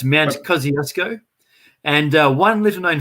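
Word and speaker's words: Kościuszko: from poland it's their surname and it's not pronounced kosciuszko so so pretty much everybody in australia says this wrong uh they say it the way it should be said in australia but in poland it's pronounced kosciuszko so it should be really pronounced mount kosciuszko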